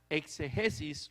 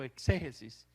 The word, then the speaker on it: exégesis: significa Bíblicamente la palabra exegesis o exégesis se puede pronunciar de la misma forma o exégesis o exegesis curioso porque yo siempre he dicho exegesis y resulta que se puede decir exégesis también pero como sea quién